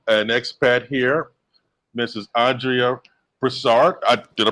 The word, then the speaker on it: Broussard: Andrea Broussard. Did I pronounce that correctly?